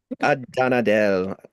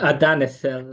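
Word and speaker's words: Adanel: Adanadel. Did I pronounce that right? Adanadel. Adanethel, like the H is like, Adanethel.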